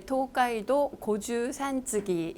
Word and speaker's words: 東海道五拾三次: 그 작가의 도가이도 고주산기 일본식 발음입니다.